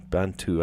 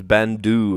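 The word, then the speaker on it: Bantu: Banau with a T. Banau. I thought it was Bandu at the beginning, but no, it's Bantau.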